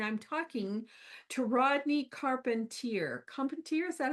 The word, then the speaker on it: Carpentier: Carpenter, is that how you say her name?